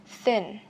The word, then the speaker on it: thin: Nine, thin, thin. Phát âm chữ thin này, đây là âm TH, âm th, thì các bạn phải đặt lưỡi ở giữa hai hàm răng cho mình nhé.